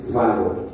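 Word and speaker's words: φάγω: 5315 la escritura, la pronunciación o la transliteración fago.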